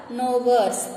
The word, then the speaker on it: gnawers: Here G is silent, so you have to read as a gnawers.